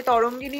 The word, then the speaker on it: তরঙ্গিনী: চলো এটাই ফার্স্টে তোমাদের খুলে দেখায় যে তরঙ্গিনী বুটিক থেকে আমার জন্য কি শাড়িটা এসছে। আমি ঠিকঠাক প্রোনাউন্সিয়েশন করছি কিনা আই ডোন্ট নো। তরঙ্গিনী, হ্যাঁ এটা তরঙ্গিনী হবে বাংলায়।